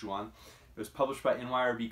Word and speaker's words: Joan: His first name is spelled Joan, but I think in Catalan it's Juan.